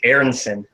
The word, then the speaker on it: Aronson: okay so this is know they say it's Aronson not urns in it is a German last name so Aronson huh yeah